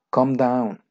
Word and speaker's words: calm: o farmacias bueno eleven con down countdown calmarse candau acuerdes acuérdate que no se pronuncia la l con down wells anna sprint